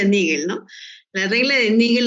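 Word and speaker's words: Naegele: Ya, esa es la regla de Nagi, de bueno, en realidad se pronuncia Nigel, ¿no?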